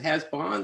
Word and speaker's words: Hazboun: be uh by jeff hasburn uh presumably i pronounce it right has in fact i should ask you jeff it has bon bon bon bon okay and um he'll be